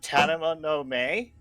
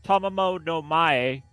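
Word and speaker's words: Tamamo-no-Mae: by the name of Tanana no Mae and she was the main subject of the ceiling first of all brain it's pronounced Tama mode no my uh no my my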